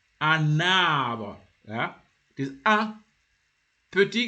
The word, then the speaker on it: un arbre: But now when you put it before if you join it the vowel of the tree here, arbre, you say a na. You see, na, you will hear na, you will hear that N, un arbre.